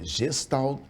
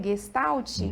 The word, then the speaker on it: Gestalt: É gestal terapia. Se pronuncia gestalt, que é uma palavra alemã.